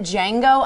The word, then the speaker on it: Django: how about is it django unchained the d is silent this is the new